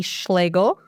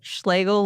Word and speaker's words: Schlagel: I am here today with a very special guest, Micky Schlagel. There you go. I said it right. You got it. Schlegel like bagel.